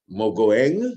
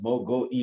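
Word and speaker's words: Mogoeng: the commotion around um Justice mang that's how it's pronounced mang mang of South Africa chief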